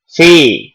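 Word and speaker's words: فِي: Cara membacanya panjangnya satu alif. Jadi inna fi.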